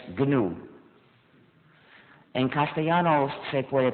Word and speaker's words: GNU: Pero cuando es el nombre de nuestro sistema, no se debe seguir el diccionario. Pronunciarlo new es muy confundiente en inglés, sobre todo porque hemos trabajado 21 años, ya no es nuevo, pero todavía es GNU.